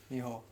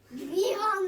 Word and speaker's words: Vihan: Nihao. Vihan, not with an N! Only with a V.